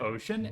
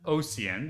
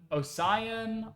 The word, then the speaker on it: Osian: will say like oh how's your name pronounced is it ocean no it is not ocean I'm not ocean man take me by the hand no that is not me I accept oan that's my preferred pronunciation but Osan asan like oan all of those are fine but ocean no we do not do ocean Snoopy I trusted you